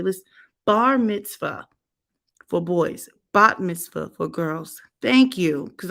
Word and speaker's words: bat mitzvah: Okay, let's bar mitzvah for boys, bat mitzvah for girls.